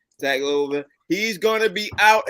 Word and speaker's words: Tagovailoa: And before we jump into the games, first news out is that Miami Dolphins QB Tua Tagovailoa, I can never pronounce Tua's last name. Tagovailoa.